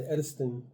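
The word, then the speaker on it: edestin: And then let's go into the Edistin protein and tell me if I'm pronouncing that right.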